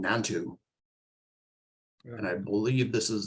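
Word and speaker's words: Nantou: the story number 138 is a story called nantu and I believe this is the pronunciation or or the spelling is n-a-n-t-o-uh interesting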